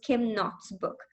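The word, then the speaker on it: Kim Knott: k n o TTS but I think the K is not pronounced so it is Kim not book the location of religion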